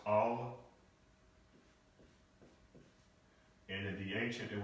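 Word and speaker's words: אל: So again, when we see the word G-O-D, God, we're talking about actually, in Hebrew, this would be the Aleph and the Lamed, and this is pronounced Al.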